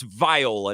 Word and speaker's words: Viola: It's Viola, not Viola.